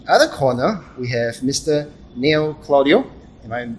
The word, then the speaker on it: Neil Claudio: Neil Claudio. Am I pronouncing it correctly?